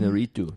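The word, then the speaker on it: Iñárritu: Inarritu.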